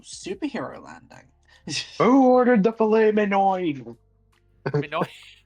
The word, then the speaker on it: filet mignon: Actually, if you want to say it incorrectly, it's filet mignon. Mignon, yeah, because there's a G in there. Who ordered the filet mignon?